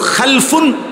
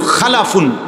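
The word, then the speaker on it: خَلَفٌ: Generation দুই রকম হয় আরবিতে একটা হল খালফুন আরেকটা হল খালাফুন একই শব্দ শুধু উচ্চারণের মধ্যে একটু ভিন্নতা। মাঝখানে একটা লাম আছে। এই লামটার মধ্যে যদি সাকিন হয় তাইলে হল খালফুন। আর যদি লামের মধ্যে জবর হয় তাহলে হল খালাফুন।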